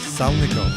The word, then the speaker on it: Salnikov: Salnikov. Yeah, well, the L is supposed to be soft, so it's Salnikov, but let's not make things.